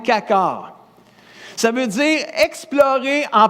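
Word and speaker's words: חקר: Donc, sonde-moi, le mot sonde-moi, sonder, le verbe sonder en hébreu veut dire kakar. Ça fait bizarre un peu à prononcer, mais c'est quand même kakar.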